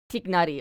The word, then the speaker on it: Tignari: Pronunciation. In Arabic, yes. Okay, it's not coming. Tignari, okay.